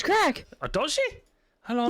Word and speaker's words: craic: And I'm like, wait, it's crack. How does she say it actually? Translate. She says crack.